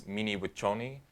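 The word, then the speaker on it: Mni Wiconi: Yeah, in Sioux it's Mniwaconi. Spell it out.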